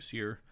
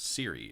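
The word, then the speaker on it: Cyre: He also pronounces Seer as Siri, and I fucking hate that, so it's Seer.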